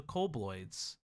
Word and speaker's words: kobold: But the demons were weenies compared to the kobolds. Did I say it right that time? Kobolds?